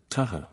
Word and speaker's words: tah: tars and ha water the marquesans today pronounce tah the pure motherland pronunciation the tow is the picture